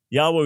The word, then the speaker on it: Yahweh: the consonants for yahweh yahweh would be the most likely pronunciation but we can't be dogmatic uh if you if